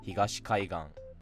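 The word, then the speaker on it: 東海岸: So, for example, if you take the word I just said, kaigan, and you add higashi before it, it doesn't stay flat, it actually becomes Higashi Kaigan.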